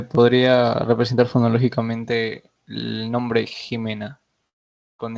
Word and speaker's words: Jimena: nombre Jimena con x Jimena con x J as porque suena como J suena como j pero si si Jimena la pronuncian como simena sería así pero en este caso tú has pronunciado esto Jimena no has pronunciado simena Ah gracias nada bien